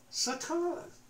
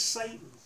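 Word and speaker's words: שָׂטָן: The word oppose is, in the Hebrew, Satan. It's not the only word for oppose, but it's the most common word in Hebrew is the word Satan, usually mispronounced in English as Satan, the opposer.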